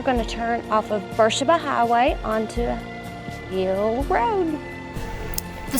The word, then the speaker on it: Beersheba: So around here we call this Beersheba Highway, not Beersheba, as it is spelled, and is likely named